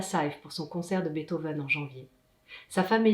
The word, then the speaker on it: Beethoven: partout 1,8 en donnions en fait ça se prononce beethoven expliqué gaëlle pas bête hove pasquereau veut dire